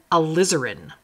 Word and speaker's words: alizarin: This one is crimson alizarin, so like lizard, alizarin hue.